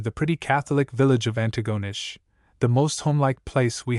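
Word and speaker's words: Antigonish: At Antagonish, with the emphasis on the last syllable, let the reader know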